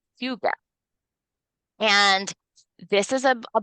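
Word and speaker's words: hygge: Okay, and but it's pronounced huga.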